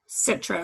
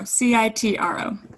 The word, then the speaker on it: Citro: Citro, Citro. Okay. Well, obviously you're looking at the spelling, but that's how you say it.